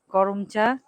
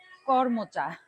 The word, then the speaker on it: করমচা: এই যে করম চা, অনেকে বলে কর্ম চা, কিন্তু আসল উচ্চারণ করম চা।